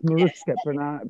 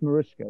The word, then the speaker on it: Marutsca: Yeah, it's spelled Marutsca, but it's Marutsca, pronounced Marutsca, right?